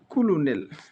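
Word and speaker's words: colonel: ও এন ই এল কিন্তু এটাগুলি উচ্চারণের সাথে আর বানানোর সাথে সামঞ্জস্য পূর্ণ নয় একটু ব্যতিক্রম আমরা খেয়াল রাখবো কুলুনেল তাহলে কি আমাদের কুলিয়াও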